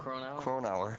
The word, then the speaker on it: Cronauer: Cronauer.